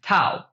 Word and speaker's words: tau: The symbol for torque is tau. This is the Greek letter tau, it's pronounced T-A-U.